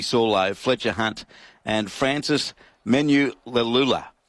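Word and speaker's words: Manuleleua: And Frizzell back to the bench, as I said, with Sandon Smith, Thomas Cant, Pasami Saulo, Fletcher Hunt, and Francis Menulalula. Menulalula is how you pronounce his name.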